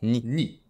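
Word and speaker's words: 二: facile facile le ca se dit tout simplement ni 5 ça se dit gogo neuf ça se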